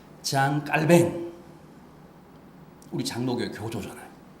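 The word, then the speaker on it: Jean Calvin: 칼빈이 존 칼빈이 아아 불란서 발음으로는 본토 발음으로는 장 깔뱅 우리 장로교의 교조전아요 뭐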